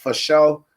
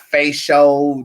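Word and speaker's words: fasho: on twitter at sugardunkerton f-a-s-h-o for those of you who are uh ebonically challenged that's pronounced for show when you do that not face show this sugar nugget tip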